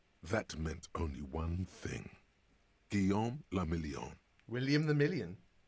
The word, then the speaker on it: Guillaume le Million: Guillaume le Million. William the Million. If it doesn't rhyme, you're not pronouncing it right.